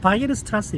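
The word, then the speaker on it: Weierstrass: 클레라 그지 데데킨트든지 뭐 와이어 스트라스든지 이런 사람들을 보고 내가 감동을 느낀 적은 많은 거 같아요 그래서 그런 사람들 처음 들어보죠 데데킨트 딜리 클레 와이어스 이게 원어 발음으로는 바이르 스트라스 일거요 바이르 스트라스 그리고 측도의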